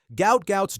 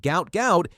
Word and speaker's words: Gout: Now, it's pronounced to rhyme with pout, and Bono wants to change it back to avoid the medical connotations. But honestly, at this point, the name gout gout is about to become synonymous with speed, not disease.